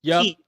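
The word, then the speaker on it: χ: So Kingdom Hearts Key, and yes, that X is pronounced Key, was only released in Japan.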